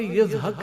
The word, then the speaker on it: اسحاق: ہے۔ اسحاق علیہ السلام، اسحاق اصل تلفظ کے اعتبار سے یزحق ہے۔ یہ عبرانی لفظ ہے